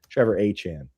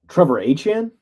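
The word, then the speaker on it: Trevor Etienne: him and his brother have have corrected us on the pronunciation there. So, Trevor Achan, Trevor Achan, that's what he's saying.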